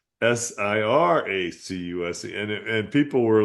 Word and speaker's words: Syracuse: It's not pronounced Sarah accused. It's Siracuse.